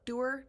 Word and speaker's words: dour: Dour? Dour? Dour? I've always pronounced it dour, but other people I've heard call it dour, which is very weird.